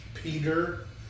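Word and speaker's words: Peder: His name is P-E-D-E-R. Peter. That's just how you pronounce it.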